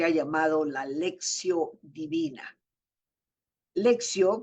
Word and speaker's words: lectio: llamado la lexio divina lexio que en latín se escribe lectio se refiere a la